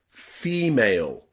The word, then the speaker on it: female: So take a look at the word female. Female. Okay? Female, the stressed syllable is the first part of that word.